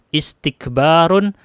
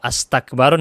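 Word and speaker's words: استكبار: Contoh, istighfarun, istikbarun, intiqamun. Tidak mungkin dibaca ustaghfarun atau astaghfarun atau astakbarun. Nggak mungkin. Pasti dibacanya istighfar, istikbar, intiqam.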